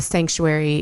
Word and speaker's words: Psanctuary: around psilocybin, and the Sanctuary, it's spelled with the silent P, just like psilocybin is spelled with the silent P.